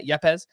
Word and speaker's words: Yepez: Yeah, Yepez. They were both named co-hitters of the Arizona Fall League, and Rangers pitching prospect Owen White named the pitcher of the AFL. And of those three, I'm thinking Yepez is the only one that we see in